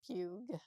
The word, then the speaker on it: Pugh: Pugh, yeah.